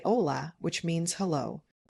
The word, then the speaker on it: hola: When you meet someone you simply say hola which means hello. Notice the h in Spanish is silent. So it's pronounced ola.